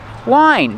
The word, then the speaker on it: whine: How do you pronounce it? Wine, just like the wine you drink.